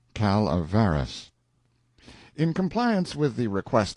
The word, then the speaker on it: Calaveras: French the notorious Jumping Frog of Calaveras County pronounced Calaveras in compliance with the request of a friend